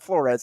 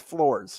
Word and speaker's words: Flores: It's not Flores, it's Floors. Floors, yeah. No emphasis on the ez.